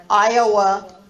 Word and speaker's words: Iowa: So our answer would be Georgia, first syllable, Massachusetts, third syllable, Nevada, second syllable, Iowa, first syllable.